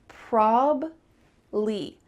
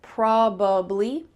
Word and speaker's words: probably: Well, in fast English, we're going to cut out that middle sound and just have two syllables. It's probably. Sometimes when native speakers are speaking slower, they'll add that middle syllable, probably. There's two accurate ways to say this, but when we're speaking quickly, cut it out.